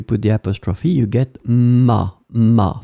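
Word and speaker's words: m'a: the apostrophe you get ma phonetically it's exactly the same sound Ma and Ma so remember to pronounce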